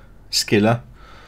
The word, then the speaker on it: Scylla: As I fucking mispronounced it earlier. Scylla.